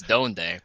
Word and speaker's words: Donde: It's Donde, no, because it's not based on the Spanish word. It's based on my warlock from World of Warcraft, which is not how that was.